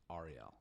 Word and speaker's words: R.E.L.: is R.E.L. But if you read her name, it looks like Ariel, but it's pronounced R.E.L.